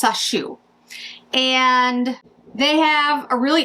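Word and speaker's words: Sacheu: It's Sashu. I keep pronouncing it probably wrong. S A C H EU. Is that right? Yes. Sashu.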